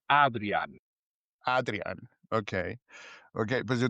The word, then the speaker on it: Adriaan: Si dices Adrián, me parece bien, pero en Ok. holandés es Adrián.